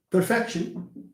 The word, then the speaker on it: perfection: So when you have a word that ends in ik or shin and jin, okay? The rule says that stress falls on the penultimate, okay, on the penultimate syllable.